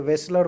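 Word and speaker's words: Wechsler: Davis वेसलर के बारे में आपने नाम सुना होगा, यहाँ WESCHLER, उसको हिंदी में रूपांतरित किया जाए तो वेक्सलर हो जाता है, वेसलर पढ़ा जाता है, आधा क जो है वो साइलेंट, वेसलर। तो डेविड वेसलर आईक्यू टेस्ट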